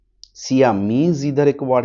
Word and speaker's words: Siam: The king and queen of सियाम. We focus, जब पढ़ रहे कोई वर्ड अगर उसका प्रोनाउंसिएशन आपसे नहीं हो रहा है तो एक हम raw Indian style basic pronunciation catch कर लेते. SICAM, सियाम.